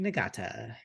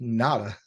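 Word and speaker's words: Ngata: Eric Berry, and Haloti Nagata. That's Haloti Nada. Oh, you G don't is pronounce the silent. G.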